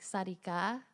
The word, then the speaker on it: Satica: a common name in Cambodian it's it's actually pronounced like Sarika which means like how'd it go yeah it's